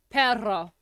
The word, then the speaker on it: perro: No matter what accent, just roll your R's. Perro.